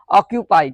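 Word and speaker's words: occupy: इसके बाद देखो क्या आया है, सी, इसका उच्चारण क्या होगा, क्या होगा, का। तो इसको हम लोग क्या पढ़ेंगे, ऑक्यूपाई।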